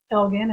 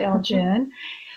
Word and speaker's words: Elgin: usually is first of all why is Elvan pronounced Elgon and not elgin and we explain that elegant list name for